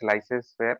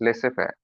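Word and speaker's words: laissez-faire: Some people pronounce it as laissez faire, but it's laissez faire. Laissez faire माने let do.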